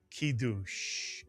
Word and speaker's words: kiddush: How would you read the first Hebrew syllable of this word? If you said ki, you are correct. The kuf with the hireq. Ki is correct. And the second syllable? Dush is correct. Mitsuyan. The daled and the shuruk and the shin. Mitsuyan dush. Put the word together and you get the Hebrew word kiddush.